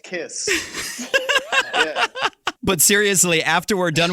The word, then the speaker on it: Kx5: gene simmons comes in k5 is pronounced kiss but seriously after we're